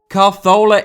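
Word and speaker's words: Cazorla: I am going with the Spanish pronunciation because I am extremely cultured, whilst also being a total melt. Carzola is among the most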